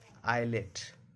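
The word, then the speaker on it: islet: एस के पहले क्या आई है, एल है, तो एस का उच्चारण नहीं करेंगे, इसको पढ़ा जाता है आइलैंड, आइलेट, आइल। टी कब साइलेंट होता है?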